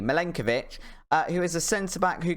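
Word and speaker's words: Milenković: this time in defense is Nicola Minka milenkovic I'll say his name properly milenkovic who is a center-back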